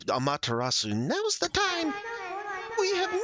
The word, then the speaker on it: Amaterasu: Here, it's pronounced Su, so Amaterasu.